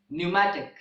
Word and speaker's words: pneumatic: of P and n in these words the letter P is also silent and the examples in this regard are pneumonia pneumatic pneumonia and pneumatic pneumatic